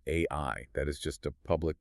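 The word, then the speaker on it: 愛: So, in Japanese, the word for love is pronounced AI.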